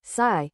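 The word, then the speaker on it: psi: We use the idea of a wave function pronounced sigh to describe where we might find a particle.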